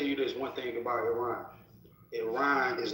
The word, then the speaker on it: Iran: Stop saying Iran. We ran. I don't even have to say it right now. I'm saying it. It's Iran.